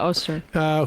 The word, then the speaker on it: Öztürk: the top of my head, Mahmoud Khalil and Öztürk. Is that how we pronounce her name? Yeah, Öztürk.